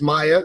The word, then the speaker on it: Maia: It's Maia, like the singer from the 90s.